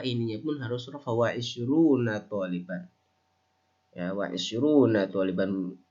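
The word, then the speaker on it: عشرون: Wa isyruna taliban. Ya, wa isyruna taliban. Kalau nggak boleh, nggak bisa bacanya wa isyrina, enggak.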